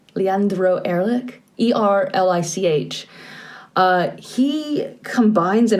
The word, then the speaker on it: Erlich: if i'm going to say his name right ehrlich leandro erlich e-r-l-i-c-h uh he combines in a way like